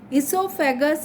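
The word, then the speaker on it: oesophagus: Esophagus is also called food pipe. It is pronounced as esophagus, but it begins from O.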